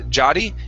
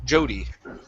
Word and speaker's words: Jodie: Instead of uh Jotty, it's Joe. Jodie. Jodie.